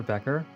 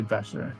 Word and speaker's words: Becher: We have Oscar Becher. I pronounced that right, yes?